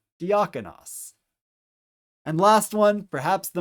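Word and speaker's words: διάκονος: It is 2 vowels that are going to be pronounced separately from one another. So the first syllable is D. The next syllable is ak, as in the alpha kappa. The next syllable is on, omicron nu. And the last syllable is os, omicron final sigma. So D, ak, on, os. Put it together a little faster, diakonos.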